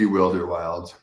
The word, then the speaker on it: WilderWilds: Oh yeah, almost everyone pronounces it WilderWilds when they just see it now, which makes sense. But Yeah. it's meant to be WilderWilds, which is So, tell us about yourself, a little bit about yourself.